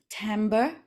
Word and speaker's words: timbre: In your opinion, is it the timbre of your voice or the content of your presentation that's more important, or a mix of both?